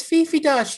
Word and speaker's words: Dosch: It's Fifi Dosch, Chip.